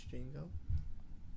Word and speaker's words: Django: The D is silent, so it's Django.